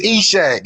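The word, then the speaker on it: Ishak: The problem I said that I'm getting with this is every This time is he says Atacapa Atacapa when lands. it's not even pronounced that way. Exactly, it's Eshak.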